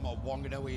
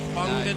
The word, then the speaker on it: Whanganui: the Nissan twin turbo now if we're going to say it correctly apparently because there's an H added to it now it's whanganui no no no it's wanganui isn't it yeah I disagree they